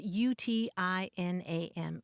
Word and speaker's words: utinam: it means basically would that or if only it's spelled UTI n a m utinam i was reminded of that when we